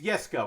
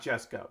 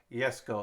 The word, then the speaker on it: Jesko: found it uh it's yes go not just go just goes out spell yes go is how it's pronounced so there's one i